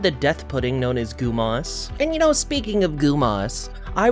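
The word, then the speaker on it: Gumoss: Gumas, that's just how it looks to me. I'm sure you can say Gummoss or Gum-os, but Gumas just sounds better in my head.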